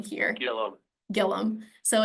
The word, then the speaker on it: Gillum: um which I understand it looks like it should be gillium but it's Gillum um so I was